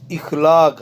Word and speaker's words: اخلاق: سوال نمبر 13 سی جز رات۔ درست تلفظ والا لفظ لکھیں۔ بی جز اخلاق، الف زیر خیخ لام الف لا کا اخلاق۔ اور 15 جو ہے وہ ہے تلاوت کا درست لفظ کیا ہے؟